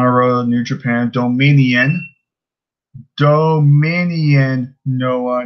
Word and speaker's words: Dominion: on you, Noah, but domination has a T in it. Dominion does not. It's Dominion. But to be fair, I never knew how to really pronounce it, but it's pretty much D-O. It's minion. You should put the do in front of minion, and it's Dominion. So it's not domination. It's Dominion.